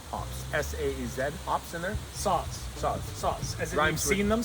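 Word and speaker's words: Saaz: s-a-e-z pops in there sauce sauce sauce i've seen them so you saw it no it rhymes with bras oh saws saws and bras not sads and brass i don't think it's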